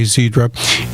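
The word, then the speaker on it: Xiidra: It's spelled Xidra, Zedra, and it came out, it was FDA approved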